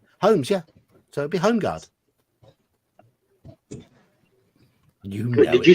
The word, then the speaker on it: Holmgard: We would say like the home. We would, at least I would pronounce it Holmgard. Well, the L would be present.